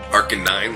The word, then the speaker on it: Arcanine: it arcanine i parken I arcanine like with the number yeah exactly number nine number nine on